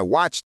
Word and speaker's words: watched: Some learners say I watched TV yesterday. But the correct way is I watched TV yesterday. Listen carefully. Watched. There is a small t sound at the end.